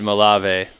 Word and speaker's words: Malave: David my life Dave it's easier to pronounce that way because I'm white in America white people do yeah he said white people always pronounce his name like that's true but